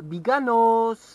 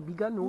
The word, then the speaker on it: Biganos: autour du bassin d'Arcachon, c'est Biganos, Andernos. Mais il y a beaucoup de régions en France où on ne prononce pas la dernière lettre. C'est donc c'est Andernos, c'est Biganos.